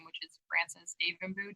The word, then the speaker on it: Devanbu: I think all of my social media platforms are all linked to my full name, which is Frances Davenboo. Davenboo is spelled Devanbu.